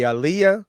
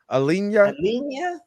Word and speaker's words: Aliinya: i n y Al I know I know that's not the right way to say double I Aliah Alena Al Al because like a lot of African languages are very phonetic they don't they don't do the whole swallowing words things usually how you see it is how you say it so and so these